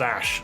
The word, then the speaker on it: Aish: Aish! Aish wants to do battle. My name is Aish, I don't know why. Because that's what you typed. I'm ready. It's pronounced Ash.